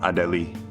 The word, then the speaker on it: Adélie: Yeah, this is a French distro, Adélie. Now that E has an accent aigu over it, which means you pronounce it like a A.